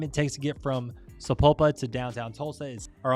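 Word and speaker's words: Sapulpa: to be talking about sapopa not sapal Lupa sapopa and that is just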